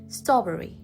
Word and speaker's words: strawberry: 3 syllables ရှိပါတယ် second syllable မှာ stretch လုပ်ပါတယ် strawberry သူလည်း3 syllables ရှိပါတယ်ဒါပေမဲ့first syllable ဖြစ်တဲ့ straw မှာ stretch လုပ်ရပါတယ်အဲ့ဒါဆိုလို့ရှိရင်ကျမတို့